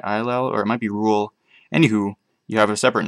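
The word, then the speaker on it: Rhul: the russian guys uh rule or rahul however you want to pronounce i think it's just rule it's r h u l is a nation of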